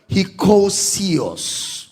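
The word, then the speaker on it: hekousios: willingly willingly was translated from the Greek word hosio hosio h e k o u s i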